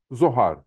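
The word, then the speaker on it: זוהר: kavramını şu şekilde yazıyoruz Zayn Vav Hey Reş zohar diye okuyoruz Bu kavrama dikkatli baktığımızda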